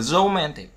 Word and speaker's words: romantic: Thứ hai là chúng ta, cái đồ thị chúng ta sẽ nhìn thấy ở đây là từ romantic, romantic nhé. Thì trọng âm nhấn vào âm man, man.